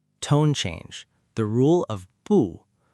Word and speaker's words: 不: So 不 changes to 不 , a second tone. Therefore, not at or not in becomes 不在 . Make sure to pronounce 不 as 不 in this context.